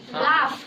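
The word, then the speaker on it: laugh: silent ही रहता है लेकिन कभी-कभी इसका उच्चारण फ में होता है ठीक है जैसे लाफ लाफ तो यहां जी एच का उच्चारण किस में आ रहा है फ में फ में ठीक है तो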